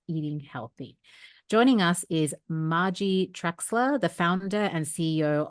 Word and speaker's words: Margie: It's Margie, right? Not Margie. Yes, it is.